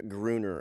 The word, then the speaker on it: Gruner: is Nemesis, starring Olivier Gruner. Olivier Gruner, directed by. If it ends with an R, it's usually an A pronunciation if it's a French name.